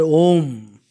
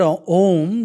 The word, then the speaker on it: Om: for Mahesh so when we pronounce the word om the vocal organs Express these three qualities of God to say ah we have to open our mouth thus ah also is